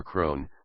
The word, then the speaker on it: Croghan: Croghan claimed by inheritance Krogan is an Irish place name pronounced in America as cron or Crone based on common misspellings